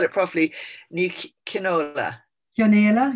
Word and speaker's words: Chionaolo: Chionaolo, yeah, very good. Chionaolo.